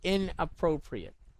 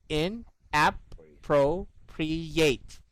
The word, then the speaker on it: inappropriate: I dissect it like this. I put it into syllables. In, app, or app, pro, pre, yate. This is how I make the last syllable sound. In, app, pro, pre, yate. It's like yay. It's like that.